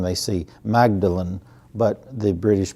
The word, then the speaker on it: Magdalen: a fellowship in English language and literature at Magdalen College in Oxford. A lot of times when Americans read the name, they see Magdalen, but the British pronounce it Magdalen.